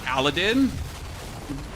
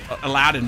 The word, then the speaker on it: Aladdin: You're like you like let's not watch Aladin. Aladdin by the way. Sorry. In German it's Aladdin. In in English it's Aladdin. I had to learn that the hard way.